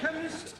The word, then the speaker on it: chemist: blame me k e chemist does not begin with a k it sounds like it begins with k CH H but that is making it chemist no the CH is